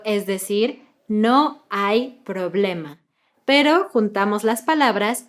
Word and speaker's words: no hay: Y otra vez juntamos no y hay y no hay.